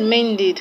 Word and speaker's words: mended: So you now know that E, the E in ed, that's the past tense marker, is pronounced as E.